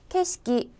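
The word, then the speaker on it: 景色: 글자 그대로 는 " 경색 " 이지만 , 두 한자 모두 " 케시키 " 라고 발음 한다는 점 을 기억 해야 합니다 .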